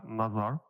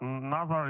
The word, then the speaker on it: Nazar: It's actually Nazar. So, but Nazar is also okay.